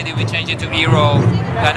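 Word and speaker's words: Iroh: we change it to hero and iron it was just that you know it's hero is basically a little more foreign right because iro is a more american way of pronouncing and and it was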